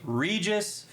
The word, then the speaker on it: Regis: First name rhymes with Jesus. Kind of. It rhymes. It's Jesus Bilbin. Oh, I was thinking of someone else. Okay, Regis Philbin.